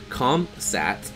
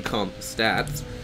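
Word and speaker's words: ComSat: coming down from the comp sats not the comp stats thank you uh in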